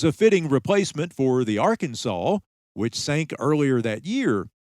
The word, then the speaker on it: Arkansas: It was a fitting replacement for the Arkansas, which sank earlier that year. And by the way, that's Arkansas with a W on the end of it, just like the good Lord intended.